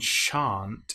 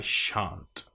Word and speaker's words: shan't: And shan't is our long R sound. And make sure that we get that nice sh sound at the beginning.